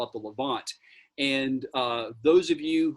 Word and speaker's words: Levant: ever heard it's called the way you pronounce it is levant l-e-v-a-n-t and it essentially